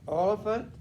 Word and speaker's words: Oliphant: All right, Oliphant, Oh, the trumpet. the trumpet kind of rhymes with elephant because it's probably made of ivory.